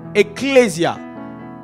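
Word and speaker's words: ἐκκλησία: Alors, le mot église ici, c'est un mot grec qui, si on veut prononcer simplement, c'est ecclésia.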